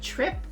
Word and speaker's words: Tripp: It's called Trip, and it's spelled Tripp.